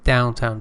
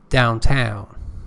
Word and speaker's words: downtown: on the first syllable if it is used as an adverb the stress is on the second syllable here it is an adjective so first syllable downtown traffic for example can